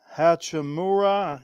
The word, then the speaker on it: Hachimura: Rui Hachimura, I guess that's how you say it.